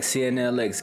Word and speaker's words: CNLX: Alright, welcome back, CNLX Gaming, where the X is silent.